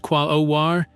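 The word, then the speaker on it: Quaoar: Quayor, pronounced qualar, is a substantial dwarf planet about half the size of Pluto, discovered in 2002.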